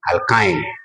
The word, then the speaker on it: alkyne: thing very well, but we call this one alkane with the A. With the E we call it alkene. Then with Y we call it alkyne. So simply you can say alkene, alkene, alkyne.